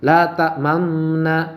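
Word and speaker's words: لا تأمنا: Anak-anakku sekalian, selanjutnya lafaz la ta'manna juga boleh dibaca ikhtilas, yaitu membaca harokat dengan samar dan cepat sehingga suaranya tinggal 2/3 harokat. Nah, la ta'manna, nah gitu ya.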